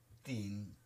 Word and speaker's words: teen: italiano, queste due e in inglese si leggono, quando sono insieme in questa maniera, come se fossero una i. Quindi si pronuncia teen.